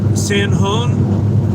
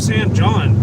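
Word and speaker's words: San Jon: I thought of San John. Did I mispronounce that? I'm sorry. Well, I mean, it's uh Okay, so it's it's spelled San John, but San uh San Hong.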